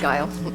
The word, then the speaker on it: Gil: you very much Gil I pronounce that right it's guile hi Lisa gasin will